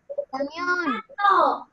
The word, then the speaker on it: camión: Entonces, mi sílaba tónica de la palabra camión es mión. Y la sílaba átona es ca. Ca, que suena más bajo, mión, que suena más fuerte.